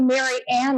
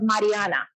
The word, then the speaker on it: Mariana: not even asking just calling me Marianne instead of Mariana right so bills are